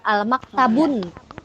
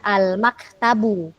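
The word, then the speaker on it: المكتبُ: ibu-ibu membuat kalimat misalkan Jadi enggak boleh nih kita baca misalkan jelas di situ ada Alif lamnya tapi kita akhirnya malah dibaca dengan domatain misalkan almtabun Nah itu salah Jadi harus dibacanya almaktabu dan contoh lainnya alkitabun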